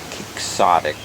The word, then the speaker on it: quixotic: It looks like quixotic because it's for Don Quixote, just spelled with an X.